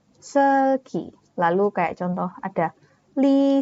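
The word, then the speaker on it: 슬기: Kayak contoh misal artis Korea, misalnya namanya Seulgi. Jadi, misalnya kita mau baca namanya Seulgi ya, itu kita U-nya tidak terbaca, tapi hanya E saja. Seulgi.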